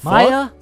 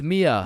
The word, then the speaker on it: Mia: Wait, what the Maya, is is Maya present? Uh, it's it's Mia.